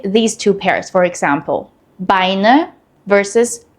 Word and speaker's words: Beine: EI is pronounced like I and IE is pronounced like E.